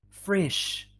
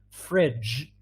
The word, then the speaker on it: fridge: Fridge, not frish.